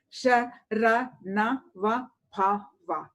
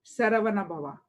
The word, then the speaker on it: Saravana Bhava: The mantra recited for God, Lord Subramanya, has a syllable Sha-ra-na-va-bha-va, Saravana Bhava.